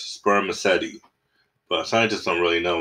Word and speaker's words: spermaceti: material in their heads it is called spermaceti you say it like this sperm acety but scientists don't really